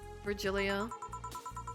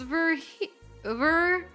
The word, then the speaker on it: Virgilio: Look, winded, Virgilia. It's pronounced Virgilio. No, I'm pretty sure it's Virgilio.